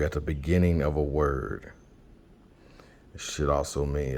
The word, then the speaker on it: Waw: And it would be pronounced wo, not vo.